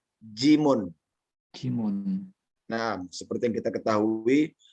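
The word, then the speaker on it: جيم: Adalah jim. Ya. Jim di dalam penyebutan mukhatta'ah ya seperti itu, jim. Namun secara penyebutan hija ya atau pengejaannya adalah jimun.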